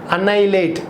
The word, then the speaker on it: annihilate: Devastate, shatter, destroy, shock, stun, ruin, annihilate. Very important word. Remember, A-N-N-I-H-I-L-A-T-E. H be silent in pronunciation. Annihilate.